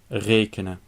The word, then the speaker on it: rekenen: In rekenen, the last 2 vowels are suppressed, so the E cannot be long.